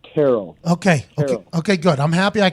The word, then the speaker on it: Terrell: Is it Terrell or Terrell? No, you're saying that exactly right. It's Terrell.